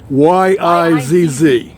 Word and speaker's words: Yizz: Y-I-Z-Z. Okay. Yizz, like fizz with the Y.